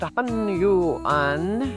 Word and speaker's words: Hunyuan: Now, Hunyuan video, it's three syllables, don't overthink it. Hunyuan, yes, that's how it's pronounced, I just have an accent.